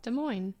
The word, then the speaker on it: Des Moines: And then I have Des Moines. Oh, God. They're going to slaughter me. How do you pronounce that? Des Moines.